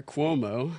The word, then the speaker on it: Cuomo: So that was Mayor Cuomo.